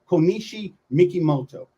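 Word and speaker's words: Kokichi Mikimoto: Some people say his name first, Mikimoto, then Konishi, but it's actually Konishi Mikimoto.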